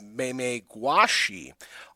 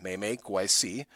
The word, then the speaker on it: Memegwesi: The Meme-Gwesi, sometimes known as the Meme-Gwashi, are small water spirits usually said to inhabit rivers or riverbanks in Algonquian mythology. The name is pronounced again, Meme-Gwesi.